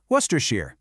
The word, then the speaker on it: Worcestershire: And that shire at the end of a place name, it's pronounced sheer. So you just mash them together, and what do you get? Worcestershire.